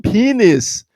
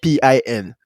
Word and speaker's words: pen: They were like, "Oh, you mean penis?" I was like, people are stupid. Oh It's my first of all, it's pronounced Pen, which is pen, not Pin, which is I'm just like the way Americans pronounce things sometimes.